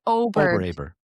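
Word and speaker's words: Åberg: Is that how you pronounce Obear or is it Abear? It's Ober. It's Ober. Oberg, I'm pretty sure.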